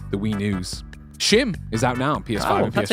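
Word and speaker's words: Schim: That's how you pronounce it. Huh? I read that. I would have read it. I mean, if you're ever taking Greg Miller's advice on how to pronunciate something, well, no, but then I got to be honest. I would read it as schism.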